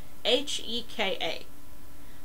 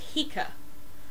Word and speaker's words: Heka: using a coptic alphabet so it may have been pronounced more like hika and so if you